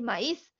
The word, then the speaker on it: maíz: pasando aquí es que la pronunciación del Maíz de la palabra maíz obligas a separar el diptongo porque ahí es necesario poner una tilde para que cuando yo lea la palabra diga ah maíz ahí entonces dice maíz